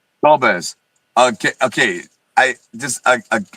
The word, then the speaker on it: Dolbez: Dolves, is is it Dol Dolz or how do you say your name? Dolves.